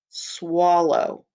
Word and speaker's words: swallow: Swallow. Swallow. Swallow. So it has the word low in it. Swallow. And OW says O in swallow. Swallow. It's actually a two-syllable word.